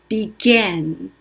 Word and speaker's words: began: 시작했다 할 때는 I가 철자가 A로 바뀌는데 발음은 에로 납니다. 그래서 began.